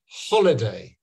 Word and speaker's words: holiday: you stress so so if you're saying holiday you stress the first one holiday and you need to